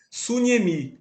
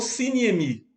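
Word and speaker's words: συνίημι: a mesma palavra compreendeis, ele usa uma palavra suniemi ou siniemi. Depende da pronúncia que se adote. Sinemi ou sunemi.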